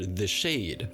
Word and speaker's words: the Xade: You could say TheXade, the Xade, the CrossXade, or the Xade. I intended for it to be the Xade, and I added the